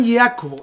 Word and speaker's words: Iacobo: En latín se pronuncia San Jacobo. San Iacobo, y para acortar el nombre pusieron San Iaco, San Iaco.